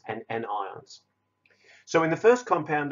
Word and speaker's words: anions: know it looks like patience but it's actually pronounced cations and negatively charged ions which are called anions and again it looks like onions but that